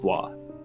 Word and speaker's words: voix: But, I was expecting vo because, like, faux, but that's FAUX, and this is VAIX, so voix.